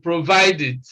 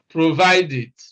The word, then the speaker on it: provided: the same thing happens in provided provided so it is again eid provided all right then the